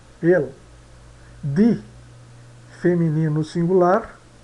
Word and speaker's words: die: Isso aqui se pronuncia dea. O IE se pronuncia die.